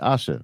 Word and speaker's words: Asha: I think my name is up there, but I tell people it's like Tasha without the T. So ASHA and then. Okay. So I was saying your name correct, Asha, right?